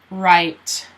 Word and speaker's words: right: So, you don't pronounce the G or the H. The G and the H are both silent. So it sounds like right.